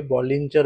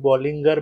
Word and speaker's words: Bollinger: आहे आणि तो आहे बॉलिंजर बँड. कोणी याला बॉलिंगर बँड सुद्धा म्हणतं. ॲक्चुअल प्रोनन्सिएशन त्याचं बॉलिंगर बँडच आहे, पण मला ती एक सवय लागली आहे बॉलिंजर बँड बोलायची.